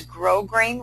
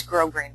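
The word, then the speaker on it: grosgrain: stitch together I use grow grain Ribbon or as you see it's spelled gross green ribbon but it's grow green ribbon and I kind of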